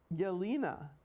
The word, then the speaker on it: Jelena: Jelena, I don't know if I'm pronouncing her last name. Yelena.